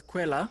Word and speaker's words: Qwela: Well, so you would pronounce it as Qwela, yes. I come from my language. Every L is pronounced as an R, and Okay.